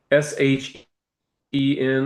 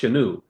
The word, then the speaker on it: Shen: They called it a shin, Shen, or you may hear it pronounced Shenu, Shenu.